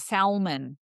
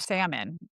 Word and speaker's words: salmon: you know, I actually my parents as non-native English speakers would always say, "We're going to have salmon for dinner." Salmon for dinner, right? And my friends would always be like, "What's salmon?" Right? Instead of salmon because they they read it sort of, right? They had learned it as adult speakers and sort of were like, "Well, there was an R there. I mean, an L there.